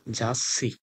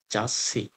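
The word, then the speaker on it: ざっし: এ তসু যুক্ত বর্ণ যখন থাকবে তখন এটার তারপরে যে ওয়ার্ডটা থাকবে এটা ডাবল উচ্চারণ হবে। যেমন জাসসি জাসসি জাসসি হচ্ছে ম্যাগাজিন।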